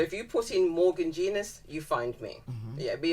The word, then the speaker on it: Genus: And for the benefit, people might think genius is, oh, she's talking about her being a genius. That's not how it's spelled. So you better spell it out for them. So it's spelled very similar. You can call me Genus if you like, but it's spelled very similar. But it's like Genus, but without the I.